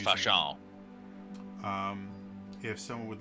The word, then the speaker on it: falchion: So you do notice you do notice that the leader was actually had a pretty impressive falchion or falchion that he was It's pronounced using. fashion.